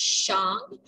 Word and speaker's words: Shang: It's pronounced Shang, like you hit a gong.